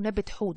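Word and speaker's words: नबत-हुत: فنفتيس دي أساسا يوناني، لكن اسمها المصري القديم نبت حوت.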